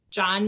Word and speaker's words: John: pronounce the h well the h is silent but we'll know it